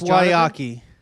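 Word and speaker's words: Guayakí: It's Wyakee.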